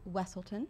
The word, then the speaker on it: Weselton: of Wesselton, Thank you for saying it.